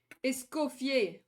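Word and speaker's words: Escoffier: Uh, escopier because that's how you pronounce it in French, right? They add an R, bro. I mean, there is an R, but you don't pronounce it. Essier, that's how you pronounce it.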